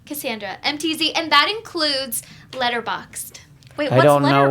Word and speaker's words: Letterboxd: Letterboxd is a way for you to keep track of all the movies you're watching. Oh my okay. So god. it's Oh. spelled like letter box, like BOXD, all together.